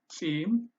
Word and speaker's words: ጺም: have the Amharic background, you will find this sound "c" very difficult to pronounce, but it's like a sound that insects produce, or birds. Some birds produce. C, m, c, m. It's not SIM like the SIM card.